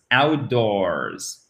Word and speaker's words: outdoors: Outdoors. OK, outdoors. Et on n'oublie pas le S à l'écrit qui nous donne un Z à la fin.